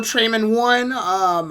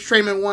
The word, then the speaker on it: Treman1: So make sure to follow Trayman1. I believe it's Trayman1 also on YouTube, right?